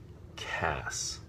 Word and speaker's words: Cass: pronunciation they expelled at see a SS which is hard C followed by the vowel and consonant cluster that makes the sound s so Cass as opposed to see